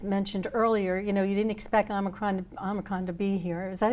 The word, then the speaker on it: Omicron: Yeah, the innovations are going to be important because, as you just mentioned earlier, you didn't expect Omicron to be here. Is that how you pronounce it? Omicron, that's what I'm saying.